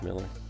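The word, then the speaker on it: Millar: I think that's the correct pronunciation of his last name. I think it's Miller, even though it has an A.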